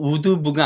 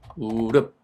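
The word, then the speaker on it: would've: 발음도 우드브가 아니고 우드브인데 얘를 우릅이라고 해요. 우릅. 중간에 우드이 우릅으로 바뀐 거죠.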